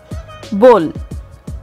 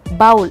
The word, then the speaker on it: bowl: Number 4 in our list is bowl. இது நம்ம bowl அப்படின்னு சொல்லிட்டு இருக்கோம். The right pronunciation is bowl.